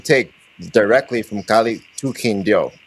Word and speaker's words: Quindío: Quindío. Yes. Yes. Just want to make sure I I'm uh pronouncing that right.